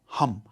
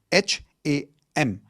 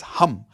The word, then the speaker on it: Ham: The fifth chakra is your throat chakra which is sound of hum. H a m. It's not ham. Okay? It's hum like how you would say hu m.